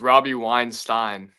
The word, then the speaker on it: Weinstein: It's Robbie Weinstein.